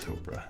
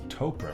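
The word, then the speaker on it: Topre: Is it, I think it's Topra, right? Like Oprah, but with a T? That's the official way to pronounce it, right?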